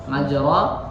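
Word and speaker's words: مجرى: Majra dia diucapkannya miring, menjadi hampir ke kasroh, i.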